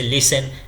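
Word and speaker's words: listen: silent भी होता है जैसे लिसन लिसन में यहां टी क्या हो जाता है साइलेंट हो जाता है इसके बाद हम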